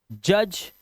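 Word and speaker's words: judge: पहले आया हुआ डी है तो आप इसे साइलेंट कर देंगे। इसे पढ़ेंगे एज, इसका मतलब होता है किनारा। जज, न्यायाधीश को बोलते हैं।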